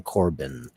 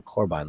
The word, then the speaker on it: Corbijn: I always said Anton Corbin. It's Anton Corbijn, like Rebecca Romaine. Anton Corbijn. IJN in Dutch is yeah.